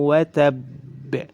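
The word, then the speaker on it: وَتَبَّ: Maka cara membacanya adalah ditahan dulu. Ditahan dulu 1 harakat, kemudian dipantulkan. Watab.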